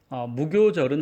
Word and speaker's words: 무교절: 무교절은 한자로 없다라는 무와 이제 발효할 때의 효를 씁니다. 근데 여기서는 교라고 읽죠.